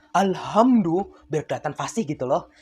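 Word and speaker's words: الحمد: nih seperti perbedaan pada huruf ha besar dan kecil itu harus benar-benar berbeda loh pengucapannya contoh nih pada surat Alfatihah ada ayat yang berbunyi alhamdulillahiabbil alamin kalau alhamdunya menggunakan ha kecil maka artinya segala puji Tetapi kalau kata alhamdunya menggunakan H besar alhamdu biar kelihatan fasih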